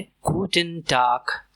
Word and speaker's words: Guten Tag: और इसकी प्रोनाउंसिएशन है गुटन डार्क गूटन डार्क गटन डार्क गूटन आबंट शाम में इस्तेमाल होता है मोस्टली डिनर के बाद।